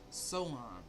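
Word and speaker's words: Samhain: So, so is called Saman. S A M H A I N pronounced soen.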